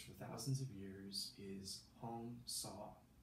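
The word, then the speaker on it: Hong Sau: And the mantra that's been used for thousands of years is Hong Saw. So Hong, like, rhymes with gong, and saw, as if you saw something.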